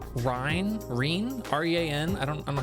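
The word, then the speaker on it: Rean: I love Joshua, but Estelle is really it's pronounced Reen.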